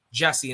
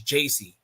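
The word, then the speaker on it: Jacy: and jessie or jc oh i said it wrong yeah i every time i look at the name like my brain is like jesse and it's like no it's jc but yeah oh yeah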